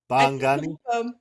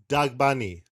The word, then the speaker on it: Dagbani: How do you spell it? D A G B A N I. Dani. Yeah. Bangani.